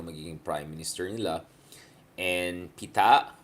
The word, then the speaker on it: Pita: And Pita, okay, that's how pala you pronounce it, not Pita.